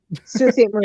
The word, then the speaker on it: Sault Ste. Marie: Oh, yeah, Sault Ste. Marie. Yeah, that's how they say it. It's super French. I heard you say it, and I'm like, how does that say? It looks like salty. Nope.